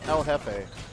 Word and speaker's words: El Jefe: but as he said El Jefe oh okay so yeah I'm sorry but the so to pronounce that name it's el jefe yeah which is Spanish for the - oh this can